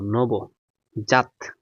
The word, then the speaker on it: নবজাত: হয়ে গেছে প্রতিজ্ঞা আচ্ছা দন্ত নব নব জাত নবজাত এটা লিখবা দন্ত নৌকা নবু করব নবু জাইকার জাত ত জাত এখানে কিন্তু দিছি নবু জাত এটা হবে না হয়ে